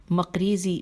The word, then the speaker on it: مقریزی: مقریزی میم قاف رے یہ زے چھوٹیے اپنی کتاب الخطۃ المقریزیہ ہجے کرتے ہیں.